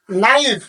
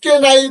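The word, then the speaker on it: knife: টি নট কে এন আই এন এফ ই নাইফ আমি কিন্তু কে নাইফ কিংবা ক নাইফ এ ধরনের কিন্তু ভাষা বলি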